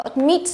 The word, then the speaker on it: admit: Tiếp theo chúng ta có admit vừa chữa ở phía trên đúng không? Admit trọng âm thứ hai, intend trọng âm thứ hai.